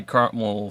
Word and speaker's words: caramel: There was an extra syllable in there. Caramel. Put the emphasis on the wrong Syllable.